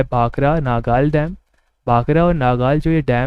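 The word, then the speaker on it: भाखड़ा: है वो भांगड़ा है, और जो भांगड़ा है उसका प्रोनाउंसिएशन लगभग सिमिलर है भाखरा से।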